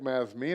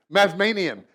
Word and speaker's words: Mazmanian: his children and with me today is Vic mesme no did I pronounce that you lastly mazmanian yes Manian Oh sectarian it's like tense any